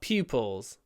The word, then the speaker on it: pupil: use this word pupil and remember lots of aspiration pupil pupils next pride is one